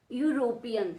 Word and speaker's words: European: You have to pronounce these words. Unit. One piece garment. E. European.